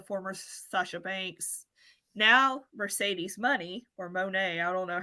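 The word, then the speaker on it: Moné: if you see her name, it has the thing, the Okay, little thing over the E, so it's Monet.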